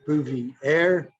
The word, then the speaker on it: Bouvier: to upload to magic bouvier that's spelled like boovy air mattress juvie air kind of like patrick bouvier